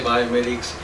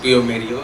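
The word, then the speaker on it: bioMérieux: company's name correctly because it's a it's a French name many people say biomeics But exactly it is bomeo the ex my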